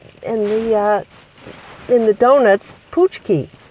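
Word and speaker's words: pączki: in the in the uh in the donuts poochki it's p a c z Ki and our his name is spelled p l a c z e k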